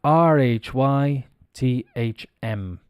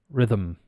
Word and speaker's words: rhythm: it's not riff rhythm the th is pronounced it's vocalized it becomes Rhythm the